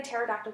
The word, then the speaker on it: pterodactyl: all right why can't you hear what a pterodactyl goes to the bathroom because the P is silent so growing up it